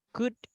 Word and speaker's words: could: Itu kan tulisannya should gitu kan. L-nya dihilangkan. Jadi kayak U-nya dihilangkan, langsung aja should, could, gitu aja.